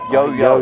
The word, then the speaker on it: Johanna: nickname it is now yo yo yo yes she's usually got the ball on the string I thought looks looks like Johanna growl when it's written on paper but pronounced yo-yo yup has Swedish American